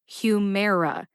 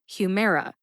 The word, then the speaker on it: Humira: and it they're both written as Humera h u dash m-a-r-e dash a h Humera how did I know